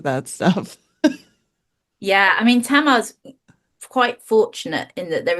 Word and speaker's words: Tamar: So you're talking about Yeah, Tamar, right? Is that how you pronounced it?